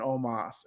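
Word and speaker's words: Omos: it's the new day versus aj styles and omas and yes guys i notice the way it's spelled out is almost but the pronunciation is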